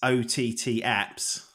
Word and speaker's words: OTTAPPS: know that Shane game face has has said Oh taps and that's how I thought it was pronounced how do you actually pronounce it well initially it's OTT apps OTT stand in for over-the-top and be Shane